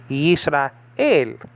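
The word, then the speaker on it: יִשְׂרָאֵל: And that's a, but the lamed, okay, caps off the syllable, okay, that's an L. So you say el, Yisrael.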